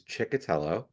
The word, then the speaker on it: Ciccotello: last name and um the way that I pronounce it is chiello um and I always